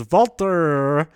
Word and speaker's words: Walter: the hour Kushida versus Valter but they say it like that an epic match between